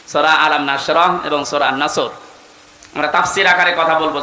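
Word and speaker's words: نصر: তেলাওয়াত যখন করবেন সদ উচ্চারণটা মুখ গোল করা লাগে আল্লাহ পাক জানিয়েছেন যখন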